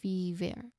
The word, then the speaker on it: fever: there like in c or meat The second syllable ver. It sounds like the word very in very like fever. F fever.